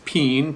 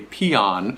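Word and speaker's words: Pean: On the east coast, east of the Mississippi, we usually pronounce this peen. P E A N. That's how it's spelled. sort of like a bean, like a can of beans.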